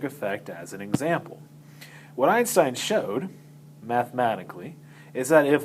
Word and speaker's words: Einstein: plunk proposed his quantum hypothesis for explaining blackbody radiation this very unknown obscure patent clerk in Switzerland named Albert Einstein Einstein is how you pronounce that name published a paper in which